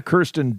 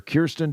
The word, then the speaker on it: Kirsten: Have we done a And we've done a Kirsten Dun movie or Kristen Dunce. How do you say her name? Uh, I believe it is Kirsten.